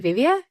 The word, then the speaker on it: Vivéa: What actually inspired you and your husband to take over Vivéa? Am I saying it right? Vivéa, right?